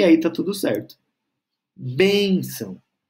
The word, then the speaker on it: benção: aí tá tudo certo benção benção novamente sílaba tônica bem bem logo antes da terminação com o tio então